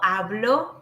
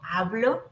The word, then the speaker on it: hablo: And this is where the accents are so important because yo hablo with this pronunciation, like with this weak pronunciation, yo hablo is I speak.